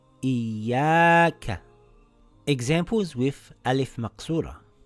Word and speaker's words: إِيَّاكَ: - Great إِيَّاكَIyyaakaIyyaaka – its not iyaaka – its iyyaaka تَجَلَّىExamples with alif maqsurah